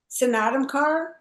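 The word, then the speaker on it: Snatam Kaur: Sonatam Kaur, Okay.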